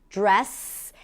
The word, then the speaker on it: dress: Now, to pronounce this phrasal verb, you start with a dr and then when you connect the dr, you hear a j sound.